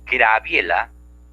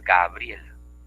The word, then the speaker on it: Gabriela: Decimos Graviela, cuando lo correcto es Gabriela.